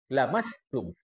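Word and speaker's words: لمستم: Bukan laastum tapi lamastum. Pendek.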